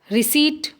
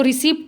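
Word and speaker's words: receipt: रिसीट, इसको रिसिप्ट नहीं बोलेंगे, पी साइलेंट होता है, क्या बोलेंगे, रिसीट।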